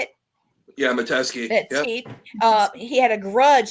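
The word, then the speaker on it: Metesky: destruction of the Consolidated Edison besides uh m medeski is that how you say it yeah mateski uh he had a grudge against the company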